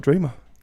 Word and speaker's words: Dreema: Well, welcome back to another Music Matters podcast, and today I've got Dreema. Pleasure. Thank you so much for having me. Is that how I pronounce it?